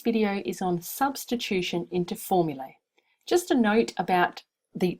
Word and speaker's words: formulae: The plural in Latin is with AE and it's pronounced formulae.